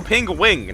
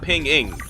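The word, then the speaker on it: Pengwing: Oh, ping-wing, not ping-ing. There's a W.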